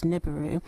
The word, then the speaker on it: Nibiru: well I guess nibu if we were to use the English dialect I guess the sounds phonetically would come up as niburu so please tell us